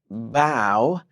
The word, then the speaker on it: bow: tough rough mhm and don't forget bow right names with cow bow cow bow cow it feels